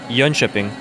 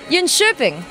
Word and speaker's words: Jönköping: It's Jönköping. Jönköping. Yeah, the syllable. Who's right, Robin? That's what I said. Jönköping.